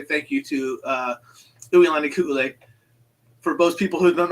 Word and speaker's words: Uilani Ku'ule: And I want to read this because I want to say thank you to Uilani Ku'ule. For most people who don't know how to pronounce Mary's name, it's Uilani Ku'ule.